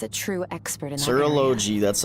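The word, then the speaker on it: Surtalogi: My master, Serology, is a true expert in that Serology, that's how you say it.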